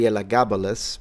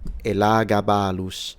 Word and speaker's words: Elagabalus: So in English you can say Elagabalus, but if you want to say it in classical Latin, it's Elagabalus with a retracted S.